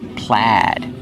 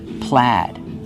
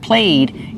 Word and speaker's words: plaid: We use a short a sound like black cat. Plaid. So, the spelling does not match the pronunciation. Remember, use the short a sound, not played. It's pronounced plaid.